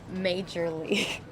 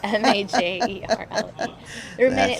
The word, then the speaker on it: Majerle: enough, now he's just like, everybody loves Dan Marley. And for a good reason. When I was a child, and I'm sure many other children or people out there who didn't know, Dan Major League.